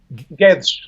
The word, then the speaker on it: Guedes: da GU Edes right how do you pronounce the last name is gets gets okay alright now I